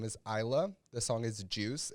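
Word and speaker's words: Iyla: that i really really like her name is isla the song is juice it's spelled i-y-l-a you can find her in spotify youtube or on apple music ayla is a 27-year-old rmb or soul singer from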